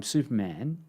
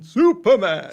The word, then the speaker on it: Superman: You mean Superman? Superman. You got to put the break in between soup and then perman. Superman. For the Australian, it's only the Australian version that pronounces it like that.